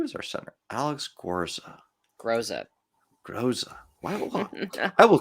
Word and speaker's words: Groza: Groza. Groza. I will call him Gorza until the day I die.